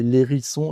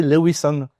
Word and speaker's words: Lerisson: arrivait pas à prononcer mon nom qui est l'érisson et les R aux États-Unis, ils arrivent pas. Donc il disait le Wison tout le temps et donc ça a commencé à bien faire rire.